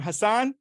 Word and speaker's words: Husnain: Hassan Hassan.